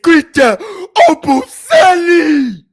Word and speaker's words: Christian Obumseli: She mispronounced my nigga name. It's Christian Obumseli.